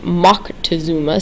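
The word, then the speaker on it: Moctezuma: One of based on one specific political leader um a man named Montazuma um there's also a different pronunciation that's mockuma same man.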